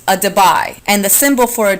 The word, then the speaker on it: debye: It's a debye. And the symbol for a debye is capital D. 1 debye, and that's spelled, by the way, D-E-B-Y-E.